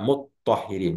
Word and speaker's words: muthahirin: Yang satu tanya-nya dihilangkan ee diidgamkan kepada th ya. Ee sehingga dibaca muthahirin.